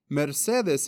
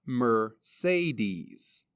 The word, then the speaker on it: Mercedes: my name is mercedes a quick note in spanish pronunciation mercedes in english would be pronounced mercedes vowel sounds in english